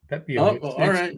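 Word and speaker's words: Pepiot: Pepio. It's pronounced it. It's pronounced like it's spelled. I mean, I was guessing. It's not like I've ever heard. It's not pronounced how it's spelled, but go ahead.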